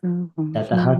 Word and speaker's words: ततः: it says I notice people are saying tataha. It's tata, isn't it? No, Tataha. Oh, because it's got the dot underneath.